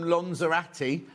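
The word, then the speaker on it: Lanzarote: Jill says, "Just back from Lonzerati." I'll say that again. That's how the locals say it.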